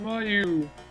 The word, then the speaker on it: Mayu: I used to pronounce it Miyu because I didn't know a proper pronunciation of Japanese names. I suppose it would be Mayu if that's the case, but whatever. Maybe. I don't. No, maybe not. If it was M-E-I, but it's M-I-E. I don't even know anymore.